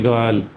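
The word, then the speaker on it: girl: करते हैं और इस शब्द को बोलना चाहिए गर्ल गर्ल आप गर्ल भी बोल सकते हो थोड़ा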